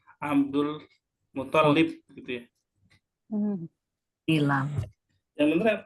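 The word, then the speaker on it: عبد المطلب: Terus kemudian yang Al Muthalib ini kebanyakan anak sering dengar juga kurang tepat di tasdidnya ya. Kebanyakan orang-orang bacanya Abdul Muthalib gitu ya.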